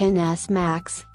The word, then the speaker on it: XS Max: this iPhone XS max pronounced NS max is the biggest smartphone